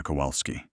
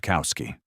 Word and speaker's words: Kowalski: Every syllable exact. The W like a V, the second vowel open, the final syllable clear. Not Kowski.